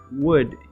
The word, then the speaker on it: would: silent could you or would you the l is also silent would you could you